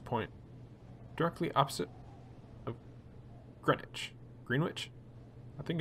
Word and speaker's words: Greenwich: Greenwich? I think it's pronounced Greenwich.